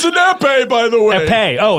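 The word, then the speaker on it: épée: What is an epee? It's a sword. Oh, thank you. It's an epee, by the way.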